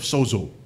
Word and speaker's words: sozo: It's spelled S-O-Z-O, but for some reason in Greek, you parang may D, eh. Sozo, eh.